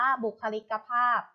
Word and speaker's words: บุคลิกภาพ: ศาลา และ ลูก นะ หรือ ช ช้าง นะ คะ ขั้น ต่อ ไป ค่ะ คำ ว่า บุคลิกภาพ ค่ะ บุคลิกภาพ อ่าน ว่า บุคลิกภาพ บุคลิกภาพ ประกอบ ไป ด้วย บอย ไม้ ค่ะ สระอุ ค่ะ ข้อ ควาย ลอ ลิง สระ อิ กอ ไก่ พอ สำเภา สระอา พ.